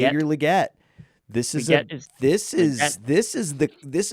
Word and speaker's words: Legette: yes we get gonna be the wi it's pronounced Le get I'm getting that right finally it's liette this is this is this is the this